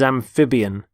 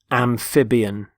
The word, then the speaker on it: amphibian: the first word is amphibian amphibian notice the stress on the middle syllable amphib amphibian there are animals such as